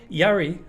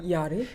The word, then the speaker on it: Jari: Yari, so it's Jari. J-A-R-I. Yeah. Yari. Because in Czech, my name is Jiri, so it's Yiri. So Yari would be the proper pronunciation, I would think.